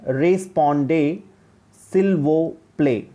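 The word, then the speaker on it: répondez s'il vous plaît: वहाँ पे एक एब्रीविएशन होता है, RSVP का यूज़ करते हैं, जिसको फ्रेंच में हम रीड करते हैं रेस्पॉन्डे सिल वो प्ले, जिसका प्रोनाउंसिएशन है, जिसका फुल फॉर्म है इन फ्रेंच रेस्पॉन्डे सिल वो प्ले.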